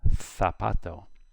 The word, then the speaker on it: zapato: But for Spain, a Z is like a TH. So the word here, zapato, would be zapato.